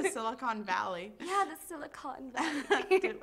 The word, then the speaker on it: Silicon Valley: Yeah, the Silicon Valley. How do you say the Silicone? That's not right.